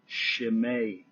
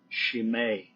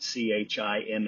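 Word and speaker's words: Chimay: brewing a beer called it's actually pronounced shim beer shim we probably look at it c h i m y and call it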